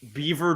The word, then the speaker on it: Belvoir: Canada we speak French Beaver Drive was like the single worst thing for me because that's Belvoir that's what that is definitely tell you what